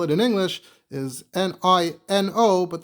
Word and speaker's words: Niño: The way you would spell it in English is N I N O. But the second N would have that tilda over it, that little swirl that tells you that it's pronounced N.